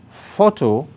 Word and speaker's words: photo: task number three photo photo now photo varies from all the other words there because it alone has two syllables and because photo is a noun the stress is on the first syllable that is why the